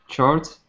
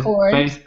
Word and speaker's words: chords: Justin Guitar is a fine and free place to start learning chords. And the chords. Hard? No, it's this CH sound is actually a hard C sound, so it's chords. Chords.